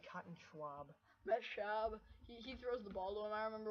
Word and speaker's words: Schaub: Schwab? I don't like Schwab. I feel like I'm saying Cotton Schwab. Matt Schaub.